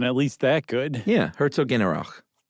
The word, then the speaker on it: Herzogenaurach: Yeah, Herzogenaurach. It's not exactly said that like that. Here, let's play this. Herzogenaurach. That's how it's said.